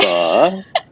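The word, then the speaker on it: phở: pho. It's like a questioning tone.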